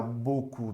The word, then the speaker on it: beaucoup: Olha só, esse daqui e esse daqui é a mesma pronúncia, ok? Beaucoup, bateau. É literalmente o.